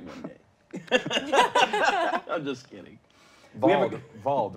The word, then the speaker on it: Vald: Vald, right?